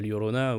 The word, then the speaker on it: Llorona: qui galèrent voilà donc la Llorona ou le Rona si si vous prononcez un peu moins bien mais voilà j'ai fait